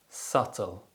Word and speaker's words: subtle: as det and lamb the letter b is often silent when it appears before the letter t and after the letter m usually at the end of words other common examples include